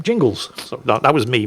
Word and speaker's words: Jingles: Dear Overlord Jingus, great Jingus. That's not my name. Jingles.